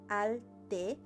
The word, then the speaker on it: Altepetl: Say it with me, Altepetl. Altepetl. If you want to do the Nahuatl pronunciation, you do the TL at the end. Altepetl.